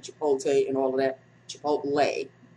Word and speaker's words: Chipotle: Chipotle. Yes, Devin, I know it's Chipotle, not Chipotle. She straightens me up on how to pronounce it, people.